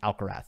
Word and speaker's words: Alcaraz: would bother more people if I personally started saying alcareth I think that would bother more people okay next one from spatula with kurd okay interesting uh two questions about alcaraz one I'm seeing more